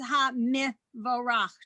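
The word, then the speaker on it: הַמְבֹרָךְ: So anytime you have a prefix in front of a word that begins with the schwa under the first letter, you need to pronounce it like mi or bi or whatever it is. So here it's ha mi vorach, just like it's u vine.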